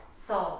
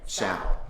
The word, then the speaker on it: Sal: Sorry, I've been calling you Saul, but you pronounce it Sal.